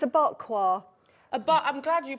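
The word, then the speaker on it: bagua: It's a bakwa. I'm glad you pronounced that. It's bakwa.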